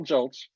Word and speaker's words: Gulch: pronounce it hi everybody my name is joltz I know that's hard because everybody wants to put another vowel in there but it's only got one um and I have